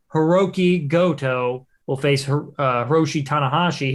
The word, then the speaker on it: Hiroki Goto: and then it'll be hiroki rhodey i can't even pronounce his name right i feel like an absolute doof it is hiroki goto will face uh hiroshi